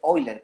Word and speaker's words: Euler: Es más, ni siquiera pronuncia bien, porque Euler no se pronuncia Euler, se pronuncia Euler, creo, hasta donde yo sé, por un poquito de alemán, ¿no?